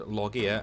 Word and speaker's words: Llogeyr: the log year and you say the word loggia in the Welsh way which is the loggia ain't that a Welsh pronunciation of the lost lands or